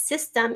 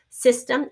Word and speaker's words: system: It's spelled S-Y-S, system, and then this E is a schwa sound, system, because we have, and so that's, but spelled with an E.